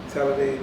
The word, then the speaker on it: Talladega: and head coach of how you pronounce it again? Talladega College. Talladega College.